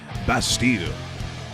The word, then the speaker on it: Bastille: Isn't that how people tell you your name is supposed to be pronounced? Bastille. As in Bastille Day.